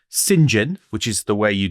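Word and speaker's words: St John: John, but pronounced St. John, which is the way you do it.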